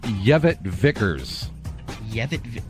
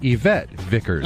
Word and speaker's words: Yvette Vickers: it may have caused we heard the name Kevin Vickers yeah well I had her bit to say Yvette Vickers huh sure I could see why he mispronounced